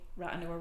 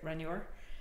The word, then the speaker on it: Rathnure: it's like Ratanure, but we don't say Ratanure, we say Ranure. So we don't even pronounce the, you know, the middle part of the word, it's just Ranure.